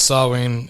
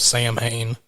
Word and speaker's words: Samhain: for each one and i'm glad you pronounced this sawing instead of sam hayne oh that's a big